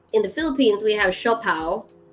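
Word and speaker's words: siopao: steam bun because in the philippines we have shaw pao it's spelled s-i-o-p-a-o xiao pao and it's um white steamed buns and they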